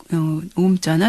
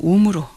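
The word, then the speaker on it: ॐ: 그래서 이야기를 할 때 오음으로 시작하고 끝날 때는 옴으로 끝나게 되는 것입니다. 인도 사람들은 시작할 때 옴, 항상 옴. 옴은 사실 아, 우, 음이 합쳐진 단어거든요. 그래서 아, 우, 이런 식으로 길게 발음을 합니다.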